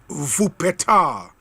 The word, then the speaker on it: Wuppertal: And David Ajay says, Obi, it's pronounced Wuppertal and not okay.